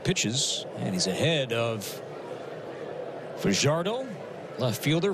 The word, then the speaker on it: Fajardo: Excuse me, been mispronouncing that name today. Fajardo is the correct way to pronounce Yoener's last name.